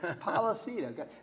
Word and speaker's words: Polisena: Polisena, Polisena from Johnston, Rhode Island.